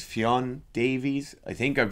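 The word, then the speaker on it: Ffion: It's Fionn Davies. I think I'm pronouncing the first name right. It's like how we would say Fiona in Ireland without the A afterwards.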